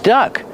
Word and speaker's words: duck: That's the verb duck. Lisa had to duck because of the tree. How do we pronounce it? Duck, with the short sound like run and fun. It's a closed sound, duck.